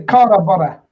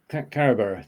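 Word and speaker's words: Carrawburgh: Well, the burr bit's like Edinburgh, isn't it? Yeah. All right. Okay. Carabara. Carabara.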